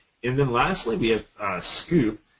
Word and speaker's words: Sqoop: And then lastly, we have Scoop. Even though it's SQOOP, it's pronounced Scoop.